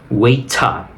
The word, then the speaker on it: waiter: la siguiente palabra es waiter es pronunciación americana si quieres pronunciación británica sería weita weita lo que pasa es